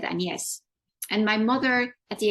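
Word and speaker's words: Agnès: it but interestingly enough my first name in French is pronounced and yes but you spell it like Agnes in English and I hate Agnes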